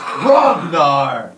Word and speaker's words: Hrognar: It's Hrognar. The H is silent.